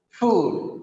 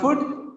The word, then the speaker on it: food: Objected object in packet food. It's not food, it is food. Food.